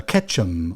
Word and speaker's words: Ketchum: come from idaho uh ketchum almost sounds like ketchup doesn't it but it's ketchup it's spelled very similar you know with a k but yes ketchum idaho which is in